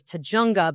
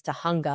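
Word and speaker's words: Tujunga: you saw it spelled you would think was T junga but anybody who's lived in California knows that it's tah hunga because it's this wacky pronunciation that nobody expects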